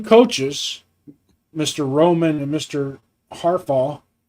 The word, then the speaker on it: Harbaugh: Harbaugh, how do you say his name? Harbaugh? Haba.